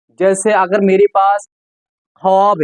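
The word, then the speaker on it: خواب: वाव को साइलेंट रखते हैं। हम ख्वाब की जगह वाब लिखते हैं लेकिन पढ़ते हैं ख्वाब।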